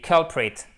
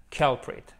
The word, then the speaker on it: culprit: Et culprit, c'est un coupable. Et culprit, ok? Avec l'accentuation sur la première syllabe. Culprit, culprit.